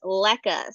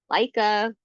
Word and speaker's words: leca: So this is leca. So leca is lightweight expanded clay aggregate. And so otherwise known as leca, you might hear people pronounce leca, leica. Yeah, people pronounce it differently, but um so it's